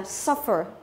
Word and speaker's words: suffer: Tuy nhiên cũng có rất nhiều các trường ngoại lệ, ví dụ như là suffer, nó rơi vào âm thứ nhất, được chưa nào?